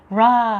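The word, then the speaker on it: ראה: 라 하면요, 래쉬하고 알렙하고 헤이가 있으면요, 알렙은 그냥 동그라미 발음이죠. 그리고 헤이는 사실은 뭐 다른 묵음입니다. 그래서 그냥 라가 된다.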